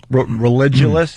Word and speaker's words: Religulous: Religulous, and I'm saying it right.